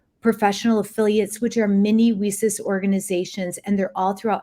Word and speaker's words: WiCyS: We often go by our acronym, and we spell that WiCyS and pronounce it WiCyS, like we sisters, because that's exactly what we are.